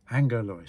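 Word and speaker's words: ἄγγελος: It's spelt A-G-G in Greek, but it's pronounced A-N-G. That's how it's said, angelos.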